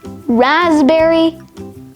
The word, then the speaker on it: raspberry: Core, coup, cupboard, pneumonia, psalm, cephalogy, psychiatrist, psychic, psychology, psychotherapy, psychotic, pterodactyl, raspberry, and finally, receipt. All of these words have the silent letter P.